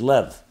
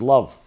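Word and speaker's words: לב: 32 in Hebrew is Lev Lev means heart it also can be pronounced as love and indeed it's a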